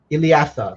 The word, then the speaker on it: Iliatha: How do I pronounce this? Ilyatha. Iliatha. There we are.